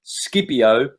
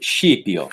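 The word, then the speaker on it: Scipio: the dream of ship yo if you're Italian Skippy Oh for anyone else okay the dream of Skippy I properly pronounced sheep York now who was ship yacht well he's the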